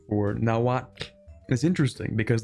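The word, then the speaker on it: Nahuatl: So, the the pronunciation for nawat is interesting because the TL is not actually a TL sound. There's just no direct there's no direct translation for that sound in English or Spanish, which is super funny.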